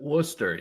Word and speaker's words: Worcester: Was that how you pronounce it? Worcester.